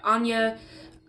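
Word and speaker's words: Áine: is spelled a I and II but it's pronounced like Anya there's a few other ways depending on where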